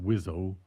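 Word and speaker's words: WSO: And their title was weapon systems officer uh pronounced Wizo.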